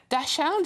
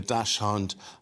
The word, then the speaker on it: Dachshund: It's the Dachshund, is that how you say it? Dachshund, yeah.